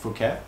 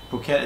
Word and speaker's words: Phuket: the crib in Patong bouquet or Phuket depending on how you want to pronounce it but locally they pronounced the pH as a P so here we have